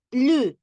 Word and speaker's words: plus: Hay dos plus, perdón, pero uno se dice la S y el otro no. Cuando hablamos de más, entonces ahí sí pronunciamos la S. Pero cuando hacemos el otro, el otro uso, que es cuando vamos a, por ejemplo, a decir plus grand, más grande. Ahí sí no, ahí decimos plus grand y no plus